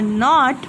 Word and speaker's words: know: No. I'm not pronouncing K.